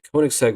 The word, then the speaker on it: Koenigsegg: of course great for us the consumer the kic seg 1:1 yes it is pronounced like that is a car that achieves